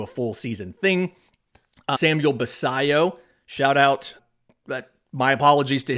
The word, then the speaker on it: Basallo: On Farm, and said, think about the word quesadilla when you say Basallo, which that doesn't really help me with the pronunciation, but I found a video of him talking about it, and he said Basallo when he introduced himself.